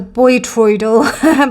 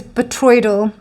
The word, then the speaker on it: botryoidal: had been pronouncing wrong I was Bo tral but it's betroyal um he this is